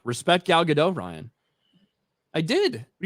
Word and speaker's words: Gal Gadot: Respect Gal Gadot, Ryan.